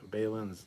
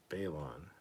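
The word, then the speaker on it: Baylan: Well, every time, everyone mispronouncing and misspelling Balin's name really bugs me. It's pronounced like Balin, not Balon.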